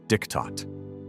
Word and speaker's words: Diktat: From that moment forward, every German knew this treaty by one word: Diktat, pronounced Diktat, a dictated peace.